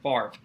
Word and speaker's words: Favre: kind of like how how you randomly pronounce Brett Favre's last name is Brett Favre instead of Favre it doesn't make a